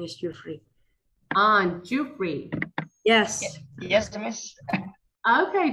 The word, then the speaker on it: Jufri: I'm not sure if I'm pronouncing your name correctly. Bro Jufri. Her name is Jufri. Jufri. Yes. Yes, miss. Okay.